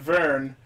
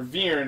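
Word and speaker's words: Vyrn: mascot character is a little flying dragon named Vern, or Viren as it's pronounced, who is also voiced by Rie, became a giant macho rampaging monster.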